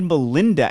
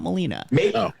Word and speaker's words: Melina: looking for Melina, but she mispronounced it and said Melinda, and they left it in. She called her I rewound it like 3 times. I think she called her Melinda just now, not Melina.